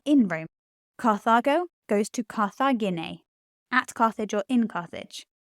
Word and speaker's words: Carthagine: Carthago goes to Carthagine, at Carthage or in Carthage. That's a third declension, with my e sound at the end.